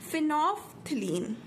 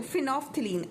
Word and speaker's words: फिनोफ्थलीन: क्या नाम है, फिनोफ्थलीन. तो यहाँ पे एल साइलेंट होता है और इसको फ, है ना. चलो फिनोफ्थलीन.